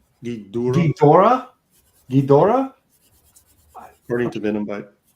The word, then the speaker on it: Ghidorah: I'm getting corrected on my pronunciation. Ghidorah. Ghidorah. What? This is like. Venomite says Gidorah.